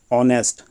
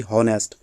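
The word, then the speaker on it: honest: है, व्यंजन है ये, लेकिन जब हम इसको बोल रहे हैं तो एच साइलेंट है। इसको हम पढ़ते हैं ऑनेस्ट, ना कि हॉनेस्ट।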